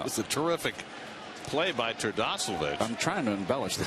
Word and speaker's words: Terdoslavich: You got Terdoslavich, I said it right, out there.